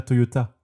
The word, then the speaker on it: Toyota: Et vous avez remarqué peut-être que je disais Toyoda et pas Toyota. Et c'est normal. La famille s'appelle bien Toyoda, mais Toyota étant plus facile à prononcer, eh bien ils ont tout simplement changé leur nom de famille pour des raisons marketing.